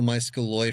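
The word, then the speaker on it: Maeskoloi: Malos is the individual muscaloy for the multiple.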